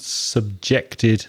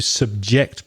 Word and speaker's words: subject: it gets dark to subject people to do something but of course when you change the stress you get the word subject which is a noun which means topic i studied english at school